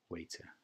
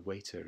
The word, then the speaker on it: waiter: I can't really do it, of course, but it's a softer T sound.